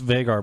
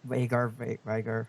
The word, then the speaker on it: Vagar: And it's Vagar, by the way. But yeah, oh Vigar.